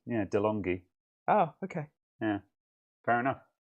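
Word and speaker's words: De'Longhi: just went now coffee machine dumas says my pronunciation is correct dilongi yeah delonghi oh okay yeah fair enough uh good i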